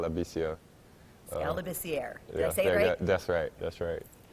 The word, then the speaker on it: Labissiere: I'm not sure, but I've heard Labissiere. I don't know how they mess it up, but the correct pronunciation is Skal Labissiere.